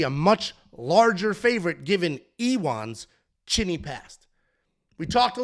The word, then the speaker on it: Ion: I know Jan, actually it's Iwan, which is, this is what I'm saying. Like, I know how it's pronounced. I hear it. I watch the fights. I do the tape study. Then I watch the fights. It's Iwan.